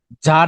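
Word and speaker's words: tsar: কি বলতে পারো তার মানে হচ্ছে যার মানে উচ্চারণটা হচ্ছে যার মানে প্রধান ঠিক আছে যেমন এই যে দেশের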